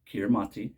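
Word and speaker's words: Kiritimati: original language Gilbert ease kiramati is pronounced Christmas so kiramati island is Christmas Island not to be mistaken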